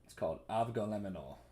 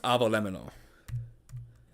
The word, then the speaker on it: avgolemono: I think my favorite food is it's a food called avgolemonol. Well, it's pronounced avolemonol, and it is Greek food.